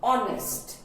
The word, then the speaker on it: honest: H sound is not there. H is silent here, and we pronounce it honest.